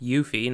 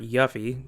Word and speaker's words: Yuffie: optional characters yuffie kisaragi her name is apparently pronounced yuffie not yuffie square enix and i